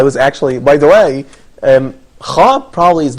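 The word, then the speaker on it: خ: It says that the letter kha represents a sound that's pronounced deep in the throat, probably could be close in a certain way. For ha, it has no equivalent in English.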